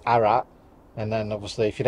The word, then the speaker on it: Arras: in the war um you don't pronounce the S on some French names so it's arat and then obviously if